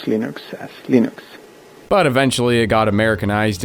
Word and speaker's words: Linux: like his name hello this is and I pronounce Linux as Linux but eventually it got Americanized into Linux after